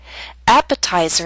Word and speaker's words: appetizer: Appetizer and secretary are longer words. They have both primary and secondary stress. Primary stress is at the beginning of these words, but the T still falls on a stressed syllable. It's secondary stress. A little weaker, but still stressed. That's why it's still a true T.